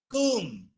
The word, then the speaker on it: comb: Comb, tomb, womb.